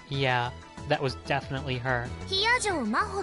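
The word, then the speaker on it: 比屋定真帆: Hiyajo Maho って読むの? Maho Hiyajo.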